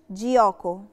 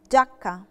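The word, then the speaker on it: giacca: من الايه اه او فبقت جاكو مش جياكو جاكا جاكا جاكا جاكا جاكا جاكا جي علشان بعدت تراقيه بتخليني انطقها دي فبقت جاكا لكن جه وراها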